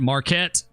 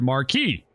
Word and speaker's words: Marquette: Is it Marquette? Ket. Okay, Pierre Marquette. Hello, Kerbo. Miss your Run 8 streams. It's pronounced Pierre Marquis. Okay, so we've had people say both ways. So I guess either or, right?